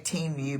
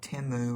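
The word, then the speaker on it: Temu: though you're I think I always say teu but I think it's like timu or something's the right way to say it teu is what I'm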